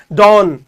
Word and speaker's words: dawn: dawn का मतलब इसमें W का एक हल्का सा लहजा आता है, ठीक है, एक हल्का सा लिल्ट आता है, dawn, ठीक है.